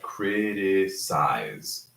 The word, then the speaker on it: criticize: So size is one vowel sound, one round I. Size, right? Criticize, right? Size. E is silent, criticize. But when we conjugate it